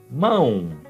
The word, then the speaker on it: mão: Então, aparecendo a possibilidade, ão, a pronúncia, ão, e o exemplo, mão. Segundo, o plural, pronúncia ãos, exemplo, mãos.